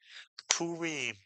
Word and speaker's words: Purim: The first syllable is poo and the second syllable is re mitsuyan. The re with the hearing followed by a final mem is re. You put the word together and you get purim.